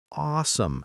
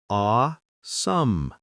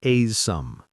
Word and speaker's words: awesome: Notice how you said awesome. The ah sounds like ah, not a. So it's aw-some, not a-some.